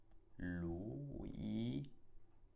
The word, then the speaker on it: Luigi: È un nome di persona e si legge Luigi. Molto bene, perché la G è seguita da una I e quindi il suo suono è debole. G, Luigi. La seconda parola è ancora